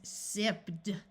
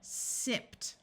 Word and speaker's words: sipped: For example, if I tried to pronounce this as sipped, doing the D sound after the P sound is extremely difficult. So ED is pronounced as T. So sipped.